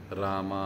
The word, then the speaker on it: राम: कृष्ण हरे हरे, हरे राम राम राम हरे हरे। कृष्णा नहीं कृष्ण, रामा नहीं राम, हरे हरे, पूरे इन ये जो उच्चारण है वो सही से करना, एक एक शब्द को बोलना और उसको ध्यानपूर्वक सुनना।